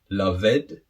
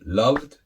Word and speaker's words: loved: far so good now how do you pronounce these three different words is it way ted la ved were kid no of course not doesn't sound good so how do we pronounce these words so the first one is weighted the second one loved and the third one worked so you can see